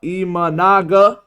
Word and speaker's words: Imanaga: the Pirates but last night Shota manga IM imanaga okay sorry for the mispronunciation he pitched for seven Innings got seven